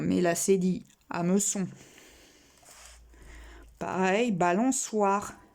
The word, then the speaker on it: balançoire: Pareil, balançoire. C-O, ça fait co. C-O-I, quoi. Si on veut faire soit, il faut mettre la cédille.